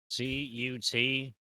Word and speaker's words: cutlass: stack uh how do you spell Cutlass blue c-u-t-l-a-s-s c u t l e s s l